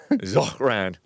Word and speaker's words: Zohran: I pronounce the H in my name only to hear muffled laughs. Zohran.